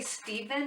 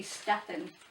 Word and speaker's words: Stephen: prothero or stefan prothero some people say stephen and some people prefer stefan phonetically speaking it should be stefan steven's a different name hit it prometheus okay